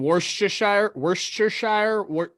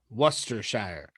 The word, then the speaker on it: Worcestershire: Mine's saying Worcestershire.